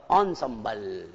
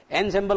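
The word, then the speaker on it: ensemble: पढ़ दिया, जो इसका जो सही प्रोनाउंसिएशन है बच्चों क्या होगा? वो होगा ऑनसम्बल। एनसेम्बल को क्या पढ़ना चाहिए? ऑनसम्बल।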